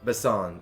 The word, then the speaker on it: Basson: Basson. I think bison, basically. Okay. But said with a French accent.